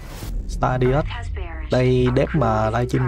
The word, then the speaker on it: Stardeus: Phát âm cho. Stardust. Stardust.